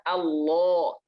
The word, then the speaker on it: Allah: Lafaz Allah itu ketika sebelumnya ada huruf yang berharokat fathah atau dhammah, maka Allahnya itu tebal. Lamnya ini jadi tebal. Bacanya Allah, Allah, lo, Allah, Allah, atau Rullah akbarullah, Allahu akbarullah ya.